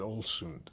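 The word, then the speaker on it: Ålesund: Olund. Yeah, she said Olsund. Yeah, the the a with it's an o. Yeah, it's an O sound.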